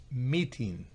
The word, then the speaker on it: meeting: Entonces, como tiene la rayita, se pronuncia en su forma original, que es I, meeting.